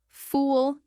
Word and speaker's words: fool: Full has a short u quick and closed. Fool has a long U, more rounded.